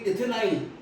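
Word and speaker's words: ethenyl: तो इथिन में से जब H निकलेगा तो लिखेंगे इथेनाइल। देखो स्पेलिंग देखो, ENE था तो क्या हो जाएगा, EN, तो क्या पढ़ो इसको, क्या पढ़ेंगे, इथेनाइल। क्या पढ़ेंगे, हाँ, पर विनाइल बोलते हैं अपने इसको, कॉमन लिखेंगे।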